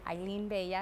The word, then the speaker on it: Hailyn Bella: And Eileen Bea is how you pronounce it.